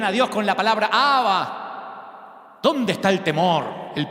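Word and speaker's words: Abba: Jesús trae la sorprendente palabra aramea aba, que es un término familiar de afecto nomatopélico como papá. La primera palabra que los nenes pronuncian AB.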